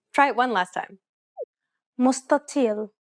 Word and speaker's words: مستطيل: This is why the first consonant is pronounced dark instead of what is written. We talked about this in the previous lesson. Try it one last time. مستطيل.